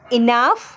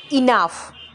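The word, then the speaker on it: enough: হবে market market এটা কি যথেষ্ট ইজ দ্যাট এনাফ এনাফ নয় উচ্চারণ হবে ইনাফ ইজ দ্যাট ইনাফ এখন কি বৃষ্টি হচ্ছে ইজ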